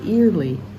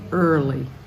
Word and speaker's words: early: it starts with ear like ear but we don't say eerly we say early in verse 4 has